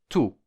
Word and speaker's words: tôt: Je me lève tôt und tôt heißt früh. Tôt. Das T am Wortende wird nicht ausgesprochen.